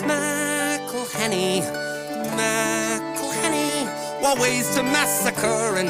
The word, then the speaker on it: McElhenney: It's McElhenney, what ways to massacre and mispronounce it there are many. McElhenney.